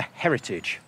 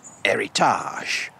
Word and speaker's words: Héritage: Because this is Le Voyageur's latest model, the Heritage, or should I say, Héritage. Because it has got an accent on the E after all.